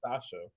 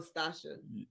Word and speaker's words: Stacia: Her name is Stacia. Oh, Stacia. It's on just because y'all spelled it don't mean it's gonna be said right. It's still Stacia.